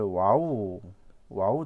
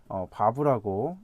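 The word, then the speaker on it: וָו: 문법을 설명하시는 분도 계셨는데 바브라고 여기서는 발음을 하겠고 소리값은 W로 표시가 되는데 이제 독일어의 W가 이제 이 V 발음이 나죠. V 이제 영어로 하면 V의 발음이 나는데 저는 이 밥으로 읽어보도록 하겠습니다. 이것을 자 일곱 번째는 자인입니다.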